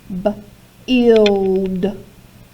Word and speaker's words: build: Okay, build. Does it say U or ooh? It does not. Build. You hear a short I sound in that word.